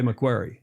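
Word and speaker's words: Macquarie: Now, how do you say Mcquaryy? Lake McQuary. Quarry. Like quarry. Quarry. We quarry. Like you dig rocks out of Kabara.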